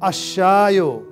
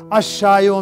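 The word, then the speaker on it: الشاي: इसको पढ़ रहे हैं अशायो द टी। अब आपके मन में कंफ्यूजन होगा कि पहले जब लगाया अल खुबजो तो लाम पढ़ा जा रहा था, अशायो में अलिफ तो पढ़ा जा रहा है और लाम नहीं पढ़ा जा रहा है।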